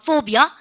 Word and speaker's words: phobia: PH 발음, F 발음이니까 phobia.